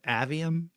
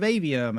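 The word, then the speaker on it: Aveum: this is Immortals of avium and I thought that's two people in a row who have said avium so I guess I've been saying it wrong in my head it doesn't matter anyway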